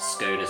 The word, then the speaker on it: scones: So you don't have that much sugar in scones, and it is pronounced Scones in bone, if you're wondering.